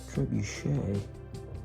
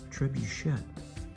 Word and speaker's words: trebuchet: Most people, including myself, call it a trebuche, but when you look it up, it's actually pronounced trebuchet.